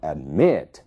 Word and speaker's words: admit: dependem da sílaba tônica observem o verbo admit a sílaba tônica é o me né A primeira sílaba a é uma sílaba mais fraca então admit é ali que está